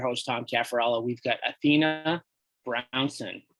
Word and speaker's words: Athena Brownson: We've got Athena Brownson. How did I do? You pronounced it perfectly.